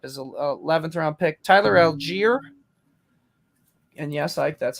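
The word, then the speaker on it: Allgeier: ike finishing up his 11th round pick tyler algiere and yes ike that's how it's pronounced dawson knocks over cole comet ike how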